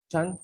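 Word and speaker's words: 禅: Chan is the Chinese pronunciation of Zen.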